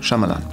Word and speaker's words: Shyamalan: thank you it's a pleasure is mine shalan um I hope I pronounce it right shamalan yeah the Y is you were very close though sh shamalan shamalan Nonito I'm very very a little bit angry